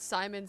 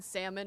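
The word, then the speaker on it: Saimon: So many people have called Simon Salmon, it's not even funny.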